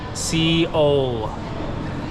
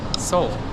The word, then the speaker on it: Seoul: When I read this, when I look at it, I read Seoul. But I got here and John was like, no, don't do that. How do you say this, John? Seoul. Seoul. It's just that easy.